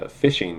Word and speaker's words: phishing: Well, that's with the phishing with a PH, even though it's pronounced like fishing for fish.